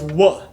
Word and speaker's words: wuh: Now what in Bajan is wuh, W-U-H.